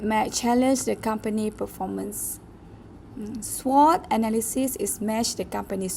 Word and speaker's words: SWOT: Another things we have to concern, SWOT is pronounced as SWOT.